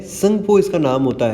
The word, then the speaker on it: Tsangpo: और वहाँ पर इसका नाम ब्रह्मपुत्रा ही होता है क्या, तो नहीं होता है, संगपो इसका नाम होता है। मतलब स्पेलिंग क्या है, TSANGPO, ये रिवर का नाम है।